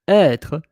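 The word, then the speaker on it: hêtre: But être, you don't hear the H because we don't pronounce the H.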